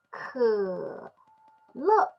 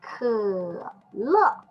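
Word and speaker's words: 可乐: And this and the pronunciation just like we say bird, and also just like we say her, and this pronunciation is 可乐 Coca-Cola.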